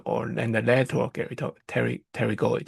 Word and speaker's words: pterygoid: spell it out, but you don't need to pronounce it. It's called pterygoid. We have the middle, medial, pterygoid, or… and the lateral pterygoid.